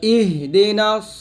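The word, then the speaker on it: اهدنا: সিরাতাল বলি, সদকে সিন উচ্চারণ করি, তকে তা উচ্চারণ করি, এই যে বড় ভুলগুলা, এই ভুলগুলো করলে কিন্তু আপনার নামাজ হবে না। তো ইহদিনা সিরাতাল মুস্তাকিম এরকম পড়তে হবে।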